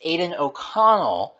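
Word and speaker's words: Aidan O'Connell: flip podcast without Martin Kelly messing up a pronunciation it's it's Aiden oconnell but okay oconnell yes we're gonna roll the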